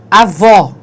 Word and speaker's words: avó: Então, a gente tem lá, avó. Então, em avó, o som é aberto. Entretanto, em avô, o som é fechado, certo?